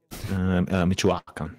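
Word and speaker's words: Michoacán: So aging up with pronounce that for me. Michoacan.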